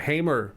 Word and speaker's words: Hamer: It is a Hamer Velocity bass or Hammer, Nice. however you pronounce it.